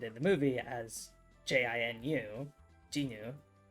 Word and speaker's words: Jinu: was really important, because their name is also Jinu, but it's usually Romanized as Jinwoo, so they often get their name mispronounced because people misunderstand the romanization.